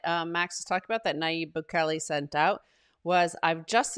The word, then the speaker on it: Nayib Bukele: One thing the president says, how do you pronounce his name again? It is, let's see, Nayib Bukele. Bukele. Nayib Bukele.